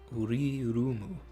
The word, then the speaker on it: R Room: It's pronounced Urirumu. I don't know what he's referencing though. Urirumu.